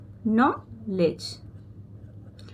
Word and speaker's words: knowledge: के साइलेंट रहता है। एन ओ डब्ल्यू को न पढ़ा जाता है। एल ई को ली और डी जी ए को हमेशा ही ज का साउंड आता है।